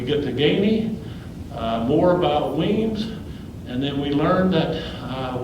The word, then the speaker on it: Wemyss: John James was against, you and I would pronounce that Wemyss, but we know it's pronounced Weems.